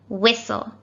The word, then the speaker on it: whistle: worry it was tricky both of these words have a silent t and as you can